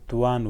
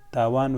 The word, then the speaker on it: توان: توان ووایو. که توان نسو ویلی، وس او وړتیا ووایو. تاوان ویلی ناسم دي.